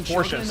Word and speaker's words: Porsche: he was saying well it's called porsa that's how you pronounce it but like growing up in like least America called it pors didn't like I know we never questioned it we didn't know now now I know it's Porsche a Porche no unless